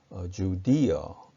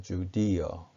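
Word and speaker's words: Judea: 베들레헴은 베틀리햄 혹은 베틀리엄 이렇게 발음하고 유다지방, 유대지방은 주디어 이렇게 발음합니다. 주디어.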